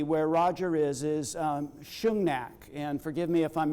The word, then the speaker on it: Shungnak: school the community where Roger is is um shungnak and forgive me if I'm mispronouncing pronouncing sh thank you thank you Shang neack Shang thank you okay and correct me when